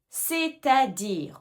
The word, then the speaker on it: c'est-à-dire: C'est-à-dire, on entend bien la liaison, c'est à dire, c'est-à-dire c'est-à-dire est-ce que tu l'utilises ?